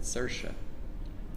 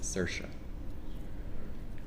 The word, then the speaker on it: Saoirse: and her name looks very odd but you pronounce it Saoirse and it's like si o ir SP and yet the the correctly pronounce it is Saoirse as I was told some time ago by